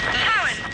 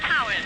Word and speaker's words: Tywyn: it's called Tywyn, T-Y-W-Y-N. Cowan. T-Y-W-Y-N. That's pronounced Cowan.